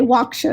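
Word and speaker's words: WOCSHN: that point was what we say walk sure and the women of color sexual health network is how I've heard that acronym pronounced and so it just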